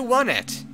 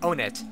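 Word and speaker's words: Onett: I mean Eagle land welcome to one it or Own It whichever way you want to pronounce it I prefer own it because the other one just gives away something in the game I wondered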